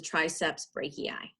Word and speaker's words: triceps brachii: the full name of the muscle is the triceps brachii that's how you pronounce that it has a partner on the